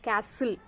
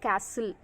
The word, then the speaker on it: castle: The castle, okay, we should not pronounce the title the castle, okay, it is wrong pronunciation, and here T is silent, okay, castle, the castle.